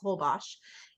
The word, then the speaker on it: Holbox: It's Holbox, but it's Mayan, so they don't pronounce the X, they do a sh. So it's Holbox, and they have an